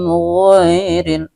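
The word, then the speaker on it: غَيْرِ: Alaihim ghairil, ya, ghai ini juga merupakan mad lain, ya, dibaca sekedar lunak atau lemas saja, ya.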